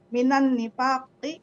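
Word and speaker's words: مِنَ النِّفَاقِ: khoslatan minan nifaqi atau minan di sini nih. Iya, kalau Minan disambung nifaqi. bacanya minan nifaq.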